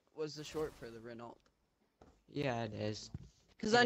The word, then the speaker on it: Renault: See, I'm still gonna call it Renault because just to me, the T is silent.